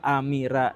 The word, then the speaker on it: Amera: Nah itu tidak sesuai dengan ejaan bahasa Indonesia itu sebenarnya nama yang kurang baik atau terlarang atau amera gitu ya. A m e ra gitu ya. Dibacanya apa? Amira gitu itu enggak boleh.